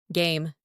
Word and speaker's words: game: Game, game. Silent letter E here.